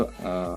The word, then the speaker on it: へ: juga kita menggunakan huruf Hiragana He tapi pembacaannya bukan He tapi E atau e gitu ya sama seperti